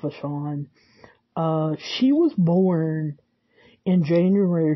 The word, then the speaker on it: Vachon: pronounced like I said the Sean I have heard it pronounced back Han and I think I'm going to go with a Sean she was born in